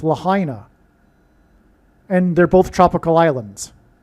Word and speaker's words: Lahaina: So the news came out on 8/8, the day of the Lahaina fire, and she is Rihanna, which rhymes with Lahaina.